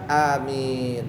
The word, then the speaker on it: Amin: nafasin Amin nah bacanya Amin itu anya panjang tapi tidak boleh terlalu panjang yang panjang minnya Amin jangan anyanya panjang Amin salah ya amin salah yang panjang itu dua-duanya tapi a panjangnya sedikit saja minnya yang panjang